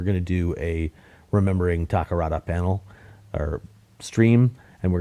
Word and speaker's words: Takarada: I remember when I was a kid, I used to pronounce Akira Takarada's name Akira Takadara. For whatever reason. I don't know why. It's just like I didn't have good old Akira Takadara.